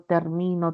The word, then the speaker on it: termino: No es igual, por ejemplo, pronunciar término, termino, terminó. El acento se traslada, es un acento libre, ¿no?